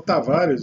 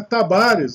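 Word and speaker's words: Tabárez: O técnico do Uruguai, o Tavares, gente, eu falo Tavares, o pessoal às vezes, mas é Tabares, não. Tabares é a maneira que escreve. O jeito que pronuncia o nome dele é Tavares.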